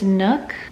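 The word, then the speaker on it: NUK: I think it's Nook, N-U-K pacifiers.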